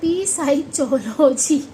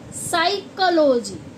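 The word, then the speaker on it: psychology: था च बोला था पी साई चोजी ऐसा कुछ बोला था तो अब हमें पता चला रूल देखो पी के बाद क्या आया है एस आया है और हम इसको क्या बोलते हैं साइकोलॉजी साइकोलॉजी साइकोलॉजी का मतलब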